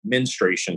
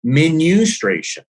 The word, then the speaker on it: menstruation: But this guy was like, I need you to pronounce, I've always said menstruation cycle. So he's like, no, menustration.